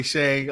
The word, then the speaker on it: Tschang: It's a German spelling of a Chinese name, and the TS is silent. So it's a little tricky. It can be Tschang, but it's actually Tschang.